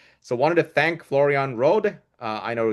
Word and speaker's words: Rohde: So wanted to thank Florian Rohde. I know he pronounces it Road in the US and Rohde, That's right. In German. Europe. Yes.